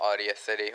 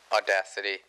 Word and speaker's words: Audacity: think uh um what I used to call Audio City which is actually pronounced audacity is the program that is the easiest for